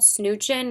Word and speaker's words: Snoochin': I mispronounced this the first time I used it, but it's called Snoochin'.